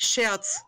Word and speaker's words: Scherz: yeah but it's spoke it's pronounced shirts oh okay yeah we're